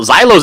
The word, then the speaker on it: Xylo: Well, Xylo's in the book already. Mallet's got a character? Yeah, his character's name is Xylo. Do you want to see the page that Xylo's on?